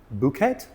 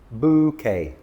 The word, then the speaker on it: bouquet: Bouet. No, bouquet. The e ending in French words is pronounced a. So, it is bouquet.